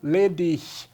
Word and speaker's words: ledig: Solteiro, ledig, termina em G, mas pronuncia também dessa forma.